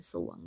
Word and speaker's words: สรวง: เนี่ย ตัว เรา นี้ ส่วน ตัว ที่ 2 เนี่ย เรา เรือ ไม่ อ่าน นะ คะ ไม่ อาจ จะ ร่อย ไม่ อาจ จะ หลวง นะ คะ อ่าน ว่า สร้อย อ่าน สรวง นะ คะ อ่าน แค่ ตัว ที่